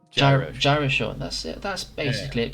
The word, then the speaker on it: GyroSean: It's like gyroscope. GyroSean.